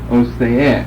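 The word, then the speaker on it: Osee: O-S-E-E, but this E is a long E, so it's pronounced like an A. O-say, long A, E, short E. O-say-e, with the accent there.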